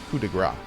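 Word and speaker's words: coup de grâce: french together we stand so i think i think it's coup de grace i don't think you pronounce the the s there could be wrong i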